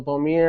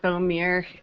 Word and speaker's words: Bohmir: for the visionary minds podcast here with Bomi am i pronouncing that correctly it's actually boomer but boom ear and like boom ear okay well boomer Bomi